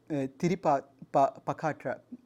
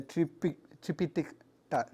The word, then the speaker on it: Tripitaka: This is from Buddhist sutra Tiripakatra. Sorry about my Sanskrit pronunciation. It's a Tripitaka.